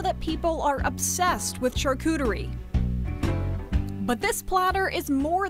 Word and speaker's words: charcuterie: And it turns out we've been pronouncing charcuterie wrong this whole time. If you're saying in French, pardon my French, but it's charcuterie.